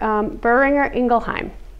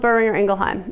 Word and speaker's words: Boehringer Ingelheim: It's burr like you're cold. Burr. Ringer like your phone. Ringer. Ingelheim.